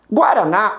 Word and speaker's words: Guaraná: Guaraná, a minha última sílaba termina em A. Ela é proferida com mais força.